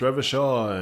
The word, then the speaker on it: Revachol: Revachol is pronounced Revachol, and Ornahe is pronounced Oranya.